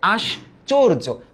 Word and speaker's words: আশ্চর্য: হচ্ছে আশ্চর্য নট আশ্চর্য দেখো এখানে রেফ আছে না এইযে রেফ আছে এই রেফের কারণে কিন্তু সরি এই রেফের কারণে আমরা দেখতেছি একটা অঘোষিত নিয়মে পরিণত হইছে যে এই চটা এটা চো রূপে উচ্চারিত হইতেছে তাই না তাহলে আগে